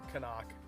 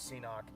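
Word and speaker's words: CNOC: bag here it's a Kanak and it is pronounced Kanak I don't know everybody for the longest time I thought it was C knock I just like everybody else does but it's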